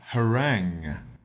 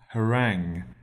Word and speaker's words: harangue: Our second word is harangue. Harangue. It's spelled H-A-R-A-N-G-U-E, harangue.